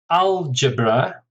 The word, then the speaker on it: algebra: Algebra, stress on the first syllable, 3 syllables, algebra.